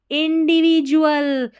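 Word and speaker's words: individual: ए एल है ना इसको डुअल नहीं पढ़ देना। जल जुल पढ़ना है। डी यू ए एल जुल। ठीक है? क्या पढ़ेंगे? जुल। इंडिविजुअल।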